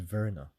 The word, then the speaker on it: Werner: not of that we're according to Professor Richard Werner um in Germany it's it's pronounced Verna right yeah Richard Werner in the very near future citizens will need